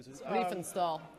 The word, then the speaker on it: Riefenstahl: And her name was Rennie, I can't pronounce the last name. Riefenstahl.